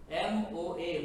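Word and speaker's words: 모아: MOA, Moa, and Sugi.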